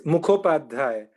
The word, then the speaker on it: Mukhopadhyay: It's Mukhopadhyay. There's a whole bunch of sounds there that don't exist in English, so don't worry about it.